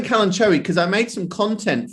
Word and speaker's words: Kalanchoe: cherry actually to be honest i keep saying kalanchoe because i made some content for always kalanchoe